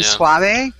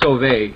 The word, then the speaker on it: Sauvé: Now, what about the new guy that was just acquired from the Providence team, Maxime Suave? Do you know anything about him? It's pronounced Sauvé. Sauvé.